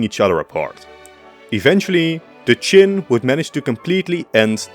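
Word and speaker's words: Qin: very first time finally the name chin spread from Persia to Rome where it was mispronounced as China giving us our West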